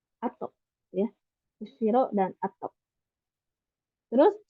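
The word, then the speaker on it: 後: Terus kalau sesudah ini artinya dibacanya ato, ato ya.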